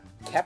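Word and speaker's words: Kuemper: Charles might know it Darcy Kepner keer keer pronounced keer say it again Darcy keer K I feel like there's an n in there when you're pronouncing I'll give you I will tell you there's no end yeah there's no end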